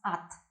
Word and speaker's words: от: Мы приедем от родителей. We always pronounce at, not от, but at, because it is not stressed. We connect it with the next word, and it sounds as one word.